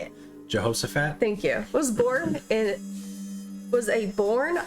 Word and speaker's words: Jehoshaphat: Jehoshaphat?